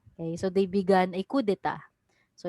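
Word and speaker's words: coup d'état: of the spartans okay so they began a coup d'etat so it's pronounced as kudeta like that so they bega they had a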